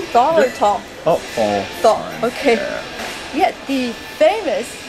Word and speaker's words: Thal: Did I pronounce it correctly? Thal or Thal? Oh, Thal.